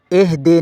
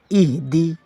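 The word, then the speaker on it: اهدنا: ہے اہدنا الصراط المستقیم۔ یہاں پہلا لفظ ہے اہدی، یہ اکثر اہدے ہو جاتا ہے، اہدے نہیں اہدی، اہدنا الصراط، یہ صاد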